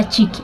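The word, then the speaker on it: chick: अब आप इसमें देखेंगे कि जो शी के पहले सी लगा हो तो उसको प्रोनाउंस नहीं करते हैं, उसको भी क ही पढ़ते हैं, या फिर उसको साइलेंट कर दिया जाता है, तो चिक, ठीक है, चिक बोलते हैं।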